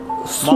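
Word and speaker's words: 谡: Eu poderia te perguntar como se pronuncia essa palavra? Ma Su. Sù.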